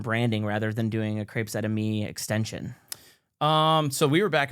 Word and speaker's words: Crepes Et Amis: It's Crepes Out of Me, correct? Crepes Out of Me, yeah.